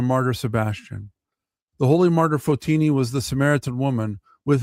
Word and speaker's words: Photini: The holy martyr Fotini or Fotonyi, sorry, that's how it's pronounced.